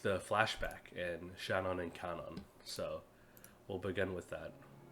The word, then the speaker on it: Kanon: So I guess I'll just start with Cage and the flashback scene with Shannon and Kanon. I'm gonna try to break my habit instead of calling them Shannon and Canon because I know how